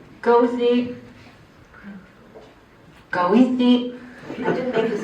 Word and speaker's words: Goethe: The English pronunciation, UK. Goethe. The English, American English, Chicago has a street name, and you can listen to this on YouTube. 3 variants. Goethe. Goethe.